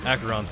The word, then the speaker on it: Acheron: In case you were wondering, Acheron's pronounced Acheron.